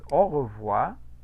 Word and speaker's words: au revoir: el anterior, que es au revoir, ese diptongo se va a pronunciar de cierta manera. Voy a repetir. Au revoir. ¿Cómo lo escucharon? Como O. Como una O, efectivamente. Es una O la pronunciación.